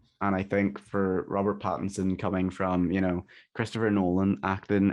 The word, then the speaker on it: Pattinson: Adam has a bit of a culty accent, so whenever he says Robert Pattinson in Robert Patterson, he means Robert Pattinson, but yeah.